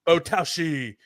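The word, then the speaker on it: 棒倒し: The name of the sport is Botaoshi, and it is a Botaoshi. You got to say it like that.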